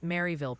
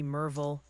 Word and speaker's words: Maryville: Oh, and yes, the great Maryville pronunciation Civil War of 25 continues. Just pick one, Ryan. Maybe Merville, maybe Maryville. Just promise you won't say Maryville again, unless you want chat to actually explode.